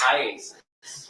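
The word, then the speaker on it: IACIS: call it Isis yes how do you say iasis iasis all right I just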